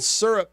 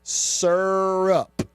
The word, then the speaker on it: syrup: what December 17th it is is National maple syrup day now I got to check in with